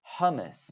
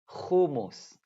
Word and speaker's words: hummus: Again, in English, it's kind of hard to pronounce it. It's hummus, but hummus, we say.